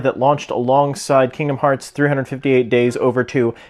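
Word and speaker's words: 358/2 Days: This is a Japanese exclusive Kingdom Hearts themed DSi that launched alongside Kingdom Hearts 358 Days Over 2. Yes, that's how you actually pronounce it.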